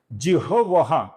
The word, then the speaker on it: जिह्वाः: इसका सही उच्चारण है पहले ह फिर वो। जिह्वाः जिह्वाः। एक तो आप जिह्वः बोलिए या जिह्वाः बोलिए, ये सप्त जिह्वाः है।